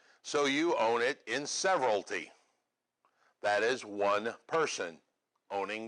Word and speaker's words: severalty: it's going to sound funny because it's called severalty alright so everybody say several T that's how it's pronounced alright while several sounds like many that's